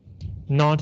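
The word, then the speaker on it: naught: zero like uh 0.6 he said not 0.6 not is n-a-u-g-h-t it means nothing or zero ght not okay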